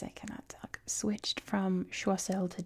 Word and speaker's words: Choiseul: It's now called Chisel which I kind of like pronounced that way.